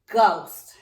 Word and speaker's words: ghost: For now, it is enough to remember that the first sound of GH is G, like in the word ghost.